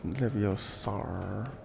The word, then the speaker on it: Leviosa: It's pronounced Hermione. Hermione. Hermione. Quel pouf sale conne. Leviosa. Stop it, Ron. Stop. It's Leviosa.